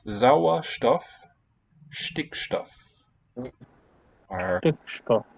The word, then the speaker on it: Stickstoff: You left out the T in Stickstoff. Sauerstoff, Stickstoff are Stickstoff.